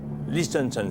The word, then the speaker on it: Liechtenstein: Alors, Liechtenstein s'écrit L-I-E-C-H.